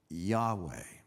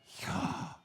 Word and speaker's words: Yahweh: Now, ancient Hebrew had no vowel markings, so we're not exactly sure how this was pronounced. But the best guess is Yahweh.